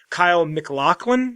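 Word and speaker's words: Kyle MacLachlan: the guy who plays, someone called me out. Apparently, I said it incorrectly. Kyle McLaughlin, if I'm saying it correctly this time.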